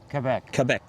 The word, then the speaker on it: Quebec: How you pronounce Quebec is important. Quebec, they would say. Yeah. Quebec.